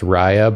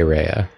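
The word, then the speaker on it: Rya: seconds late I'm sorry somebody just came in here and said Jacob it's pronounced Raya by the way I'm gonna freaking lose it on you I'm gonna annihilate do you think they're trolling you at this point I think they're trolling me okay because like everyone in the game everyone in the game says Reya that's why I say Reya I will not be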